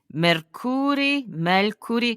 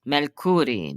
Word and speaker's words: Mercuri: So, is it Mercuri? How do you say your last name, first of all? It's Mercuri. Mercuri. So the accent on the first syllable.